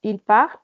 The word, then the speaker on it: part: Entonces, primeras personas con S, terceras personas con T. No la pronunciamos. Je répète. Je pars, tu pars, il part, elle part, on part.